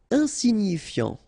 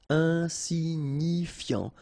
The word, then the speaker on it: insignifiant: Insignifiant. Okay, final T not pronounced, so you've got this I-A-N, ian, so F before, fiant. Insigni, okay, remember, G-N-I, ni, ni, insignifiant.